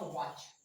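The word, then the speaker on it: watch: For example जैसे मैंने कहा वॉच, W A T C H, तो जब भी सी एच से पहले टी का यूज होगा तो वहां पर वो क्या होगा, साइलेंट होगा।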